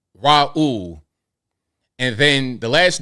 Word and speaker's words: Raul: But the phonetic spelling would be RAH-OOL. Raul.